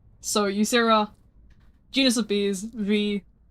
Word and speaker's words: Vee: So, user genus of bees V, my name rhymes with B.